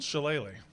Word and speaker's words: Shillelagh: how do you pronounce that? Jewel? Shillelagh.